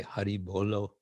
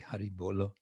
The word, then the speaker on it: Hari Bolo: greeting of devotees we say Hari Bolo uh or Haribo for short but it's actually Hari Bolo which means chant or